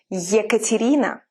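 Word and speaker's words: Екатерина: up keep up and it can have two sounds you air like in the word yekaterina yell you see it sounds like ye so with all of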